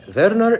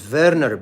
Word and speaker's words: Werner: the correct pronunciation is Verer because V or W is pronounced as V in the German language and the one who described this syndrome his name is Verer or Wernner in English.